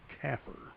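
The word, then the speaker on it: CAFR: prepared after the fact the audit is commonly referred to as the comprehensive annual financial report CFR which we pronounce CER the budget can easily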